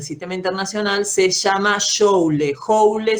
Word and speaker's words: joule: Joule se escribe, joule se dice, julios también se suele decir, y se lo representa